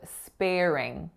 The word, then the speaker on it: sparing: and it sounds like So far we have sparing, sparing. And the real trick when you're listening to both of those syllables is to hear that linking R.